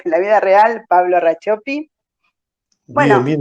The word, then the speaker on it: Racioppi: en real life, en la vida real, Pablo Rachopi. Bien, Bueno, bien, y ¿sabes, pronunciás Pablo?